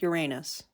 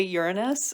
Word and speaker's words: Uranus: Yes, Mother Earth, and then, Uranus, who was the, say it like a grown-up, Uranus. No. That's how it's pronounced. Oh, is it? Yes, they teach us to say Uranus in like science class because they don't want